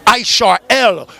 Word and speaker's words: Israel: of ancient Israel but it really should be pronounced isarel because when you start